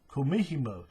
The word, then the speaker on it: kumihimo: They'll use a, how do you say it? Kumihimo, I think. Disc. Hang on, I'll tell you. Give me a second. I know that. Kumihimo.